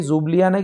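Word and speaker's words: Ljubljana: तो ये जुब्लियाना की स्पेलिंग तो सही है, इसको L से शुरू करते हैं, लेकिन ये जुब्लियाना नाम इसको बोला जाता है।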